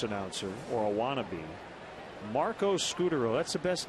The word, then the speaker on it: Scutaro: when Marco came up it was Scutaro that's what it looks like but no it's scooter Justin germano has long